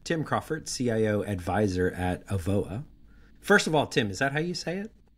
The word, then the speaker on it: Avoa: So today we have Tim Crawford, CIO Advisor at Avoa.